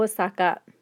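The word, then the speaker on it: 大阪: has a double o osaka osaka the town of osaka again double o that is written with a double o toy has an extra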